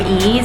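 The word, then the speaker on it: Eaze: It's spelled E-A-Z-E, Ease.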